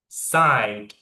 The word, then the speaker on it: decide: So remember this is a verb and expressed on the second syllable. You will go down a little bit decide.